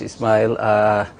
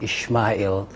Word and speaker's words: Ismail: Thank you very much, Ismail. You corrected me this morning. I was saying Ishmael.